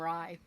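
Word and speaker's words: Rei: So I I pronounced his name rye, like rye bread.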